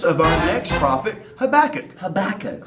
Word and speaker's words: Habakkuk: Habakkuk, whose name rhymes with cook. Cook, Habakkuk.